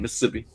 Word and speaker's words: Mississippi: I'm down south in Mississippi. Yep. Nice. Yeah. Don't put all the syllables in there. It's just like a couple.